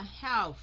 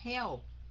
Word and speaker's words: have: Thành ra mình đọc là have. Cái âm v đó lấy cái răng trên cắn cái môi dưới rồi đánh cái âm v ra nó mới đúng, không phải là help.